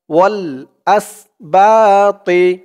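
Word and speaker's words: الأسباط: হয়ে আসবে ওয়া বা ওয়াল আসবা ওয়াও দিয়ে লাম ধরবে ওয়াল আসল আসবা বা এক আলিফ টান জবরের পরে খালি আলিফ ওয়াল আসবা তর উচ্চারণটা খেয়াল করবেন একেবারে তি বলা যাবে না তি বললে কিন্তু তার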